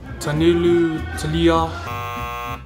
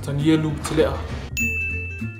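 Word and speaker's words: Tanielu Tele'a: Some people call me Tanilu Talea, Tanilu Talia, but how you say it properly is Tanilu Talea.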